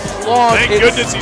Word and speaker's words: Plonk: give me a break his name is plong thank goodness he said